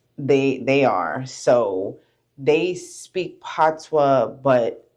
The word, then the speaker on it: patois: Patois. Yeah, I don't know how to pronounce it. No, it's okay. You didn't say it wrong, but it's patois.